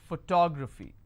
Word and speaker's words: photography: So this is my ending. I will stress here. Photography.